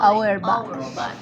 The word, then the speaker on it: Auerbach: Peristérico, Auerbach.